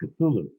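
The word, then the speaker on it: Cthulhu: he corrected me and he said no it's pronounced cthulu and I said how do you know he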